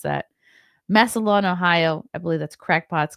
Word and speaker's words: Massillon: I finally learned how to pronounce that. Massillon, Ohio.